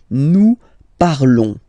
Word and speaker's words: parlons: Nous parlons, okay? Remember, final s is not pronounced, okay? And then this on together, they will give you the sound on, okay? Nous parlons, nous parlons.